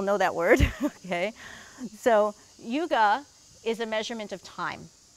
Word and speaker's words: yuga: Another very cute two-syllable Sanskrit word called yuga. Do we know that word? Not yoga, but yuga. Who knows that word? Who am I speaking to? Okay, a few people know that word. Okay, so yuga is a measurement of time.